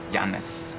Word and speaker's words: Yaris: Oh man, Yaris. That's how you pronounce that one.